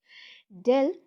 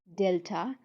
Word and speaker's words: delta: Del, this is actually this triangle, little triangle is called, pronounced as delta or del.